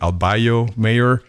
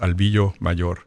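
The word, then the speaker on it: Albillo Mayor: Albio mayor. In in Spanish, it's pronounced Albio mayor.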